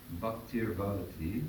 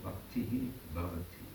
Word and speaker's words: bhaktir bhavati: It's easier to say bhaktir bhavati than it is to say bhaktihi bhavati.